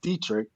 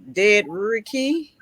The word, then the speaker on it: Dedrique: So I don't see, because your name is like Dedrique. Yeah, that's how it's spelled, but it's actually Dedrique.